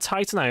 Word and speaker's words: Titanite: Is it called Titanite?